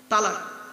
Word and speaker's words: তলাক: একত্রিত হওয়া জমা হওয়া আমরা তলাক না বলে সব তালাক বলি হয়েছে চলুন এই কোরআনে